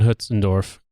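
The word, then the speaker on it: Hötzendorf: for the record the guy's name is actually pronounced France Conrad Von Huts andorf or if you want to be really fancy France Conrad Von huts andorf hell hello here I am laughing up something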